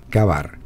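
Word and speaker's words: Ka-Bar: usaba el cuchillo Kavar, que se escribe K-A-B-A-R, Kavar, pero en realidad viene de cazar al oso, killing a bear, killing a bear.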